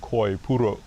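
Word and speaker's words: コイプール: We call it koi pool, which is literally pronounced koi puru in Japanese.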